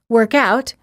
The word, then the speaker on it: workout: In that case, the stress is on the first word. We say work out if it's a verb and workout if it's a noun. Sentence pairs for practice.